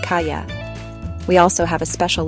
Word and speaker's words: calle: This combination sounds like the Y in yes. So the word kal, which means street, is pronounced kaya.